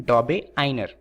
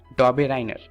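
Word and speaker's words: Döbereiner: दरअसल ये यूके की प्रोनाउंसिएशन है। दरअसल ये जो साइंटिस्ट हैं वो जर्मनी के हैं और इनके नाम में बहुत दिक्कत होती है, तो यूके वाले इसे प्रोनाउंस करते हैं डॉबे आइनर। वहीं पर जो इंडियंस हैं वो इन्हें प्रोनाउंस करते हैं डॉबे राइनर। तो आप दोनों में से किसी का भी इस्तेमाल कर सकते हैं, परंतु कोशिश कीजिएगा कि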